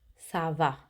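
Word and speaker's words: ça va: easy server it's fine the only difference is how you say it savable questions goes up the tone server you go up and the answer server goes down i'm fine server in a formal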